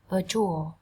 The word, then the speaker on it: virtual: Và nhớ nhé, chữ tờ ở đây nó là âm trở. Virtual, virtual, virtual, virtual. À, không thật. Virtual, virtual, virtual. Trọng âm dâm tiết đầu tiên các bạn nhấn vào đây.